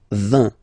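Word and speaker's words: vingt: And the last one, so this G letter is here, but you don't pronounce it, okay? And then final T doesn't exist phonetically either, so basically you will only need to pronounce these three letters. So you get V, V, and then you get nasal, IN, un, 20, 20, 20, okay?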